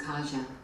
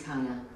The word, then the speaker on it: Kaja: My daughter's name is Kaja. Is not the right pronunciation, but it should be. My daughter's name is Kaya. That's what's supposed to be.